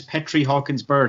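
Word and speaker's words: Petri Hawkins Byrd: His name is Petri Hawkins Bird.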